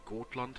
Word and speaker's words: Gotland: the Republic of goland I actually try to pronounce Gand like it's pronounced in Swedish or in the dialect is spoken there I probably just